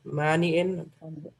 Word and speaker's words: Mani': Ma-nya panjang apa pendek? Mani'in. Panjang, Ustaz.